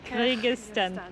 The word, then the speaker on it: Kyrgyzstan: Kyrgyzstan.